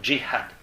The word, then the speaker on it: jihad: Et le jihad, alors excusez-moi, moi je prononce en arabe littéraire et syrien-libanais, pas en maghrébin. En maghrébin on dit dj. Vous entendez partout jihad. Bon, on dit dj en maghrébin. Le jim se prononce dj, alors qu'en arabe littéraire, en Syrie, que ce soit en Syrie, au Liban, en Irak je crois aussi, ça se prononce je, donc on dit jihad.